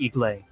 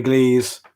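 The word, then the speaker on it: Église: 82nd airborne just behind his headquarters near solman iglay minor point santa mary glees there's an s in the word eglise it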